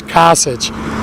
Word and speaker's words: Kasich: a politician hey I believe his last names case it's Kasich hey I want to say it wrong I